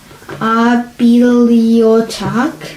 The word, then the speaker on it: bibliothèque: et La it's 4 syllables. bibliothèque. So not the A, bibliothèque.